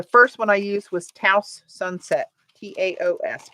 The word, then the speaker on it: Taos: one I used was Taos sunset ta OS pronounced and how you feel free I always get it wrong but I think they said it rhymes with blouse or house ta OS let's see